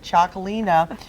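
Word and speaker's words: Txakoli: as how pronounce this it's TX a Kol I but Chalkley know is a very Kris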